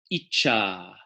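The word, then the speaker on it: icchā: Short I, but a long A at the end. Icha, which means the power of will or inspiration.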